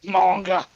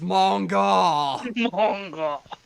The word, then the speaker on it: manga: to the manga shelf manga oh no i've told you man if you're going to pronounce it like that it's manga you pronounce the a's the same way so sorry for mispronouncing